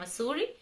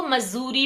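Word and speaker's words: Missouri: पहुंच जाते हैं जिसका नाम है मसूरी और इसको मजूरी भी प्रोनाउंस करते हैं और यह जो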